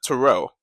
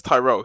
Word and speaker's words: Tyrell: He said Terrell. So, I corrected him and said, "No, it's Tyrell."